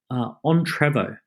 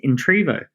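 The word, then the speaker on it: Entrevo: said to you Shireen why do you usually it pronounced it on Trevor and you see because it's entrepreneur revolution so it's on Trevor and I went it's actually I think of it as entry vote and she goes well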